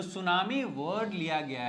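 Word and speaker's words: tsunami: इस वर्ड को वो सुनामी कह रहे हैं। लेकिन यहां पे टी भी लगा हुआ है। तो टी क्या है? यह एक साइलेंट वर्ड साइलेंट लेटर है इस वर्ड में।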